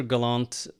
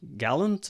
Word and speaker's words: Gallant: is galant or gallant or I answer to practically anything but uh Galant is the most common pronunciation.